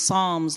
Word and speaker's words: Psalms: yes that's pres uh pronounced Psalms like in the Bible and he was our